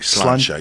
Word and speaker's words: Sláinte: Sláinte. Sláinte? Sláinte. Yeah, like Slainte, I believe is how it's spelled.